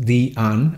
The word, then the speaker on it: Diane: And yes, it is pronounced Diane.